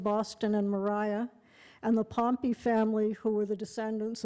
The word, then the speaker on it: Pompey: It was written Pompey, but Nantucketers pronounced it Pompey.